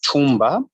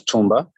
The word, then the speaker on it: Tumba: I am Tumba. I know it rhymes with Kumba, but this is Tumba.